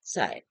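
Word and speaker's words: ψ: is written over here we pronounce this as a sigh.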